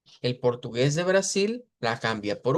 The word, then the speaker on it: Brasil: diríamos Brasil y Portugal, al final en vez de hacer una I, hago una U. Y digo Brasil, Portugal. Esas son parte de las cuestiones de los cambios que hay en los fonemas. Vea que se escribe una L al final, usted la pronuncia como U.